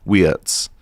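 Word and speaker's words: Wirtz: way Liverpool get Florian Watz cuz that's how you pronounce it in German.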